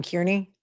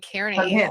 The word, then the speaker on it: Kearney: Are are you telling me you don't know how to pronounce Carney? I mean, if there's one thing that you know is how to pronounce Aiden Carney's name, you just called him She just called him Kierney.